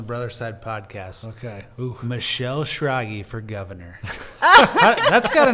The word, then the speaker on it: Schrage: started telling people michelle shiragi rhymes with froggy yeah because it's not phonetic when you see it no it's not but